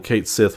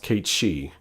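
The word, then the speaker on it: Cait Sith: to light years ago I always called him Kate Sith when I first played through it too but apparently it's supposed to be pronounced Kate she um no it's not a la carte from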